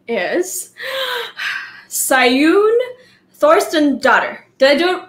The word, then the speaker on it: Saeunn Thorsteinsdottir: I'm about to pronounce her name correctly because she's Icelandic. So she has a super cool name. So I practice. Her name is Saeunn Thorsteinsdottir.